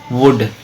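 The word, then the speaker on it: would: की आवाज नहीं होती वुड ऐसे कुड होता है उसम भी एल होता है लेकिन एल साइलेंट होता है समझ आ रही है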